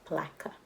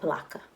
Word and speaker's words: Palatka: Palatka Florida yes and if you were wondering how to pronounce the name of the town if you read the book it's placa well blocka I am from Florida so